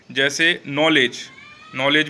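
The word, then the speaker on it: knowledge: अंग्रेजी में कई वर्णों में साइलेंट रहता है, जैसे नॉलेज में यहाँ के साइलेंट है।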